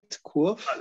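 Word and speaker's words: Quoof: Now we have Quof. Is that, am I pronouncing this right? Quof? So far as I know, yes, I believe so.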